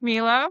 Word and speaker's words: Miele: I'm with Miele, pronounced Miele like tequila.